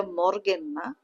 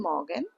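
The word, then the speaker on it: Morgen: মর্নিং good মর্নিংটা হয়ে যাবে গুটে মরগেন এটা মরগেন মন অনেক সময় আরটা কিন্তু মানে হাই এর মত উচ্চারণ হয়ে যায়। ঠিক আছে? সো গুডন মগেন গুড টাক গুড ডে বা হ্যালো এটা যে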